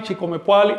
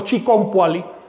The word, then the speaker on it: Chiconpuali: Macuilpuali, Chicoacenpuali, Chicomepuali o Chiconpuali, sería más correcto, etc.